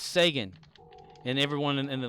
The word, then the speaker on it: Sagan: something Reagan yeah and I'm thinking dude it's Sagan and everyone in the like underneath like second